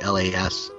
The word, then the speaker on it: Lain: That's d o u g l a i n, l a i n, my last name. It's Lain, and it's spelled l a i n.